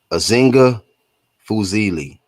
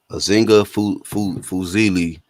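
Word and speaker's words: Azinga Fuzile: Azinga Fuzili. Fuzili.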